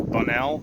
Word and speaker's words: Bunnell: We're down here in beautiful, I think it's pronounced Bunnell, B-U-N-N-E-L-L, Florida.